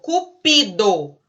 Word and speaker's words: cupido: cupido deus do amor cupido paroxítona é isso cupido a sílaba tônica é o pin mas existe a palavra